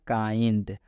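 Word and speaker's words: kind: कब आना चाहिए तो जब भी आई के बाद एन डी आता है तो इस आई का उच्चारण आई हो जाता है अब यहां पर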